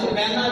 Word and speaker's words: سکینہ: اللہ تعالیٰ عنہا کو پیدا کیا، جن کو سکینہ کہا جاتا ہے۔ صحیح تلفظ کے ساتھ سکینہ نام ہے، لیکن معلوم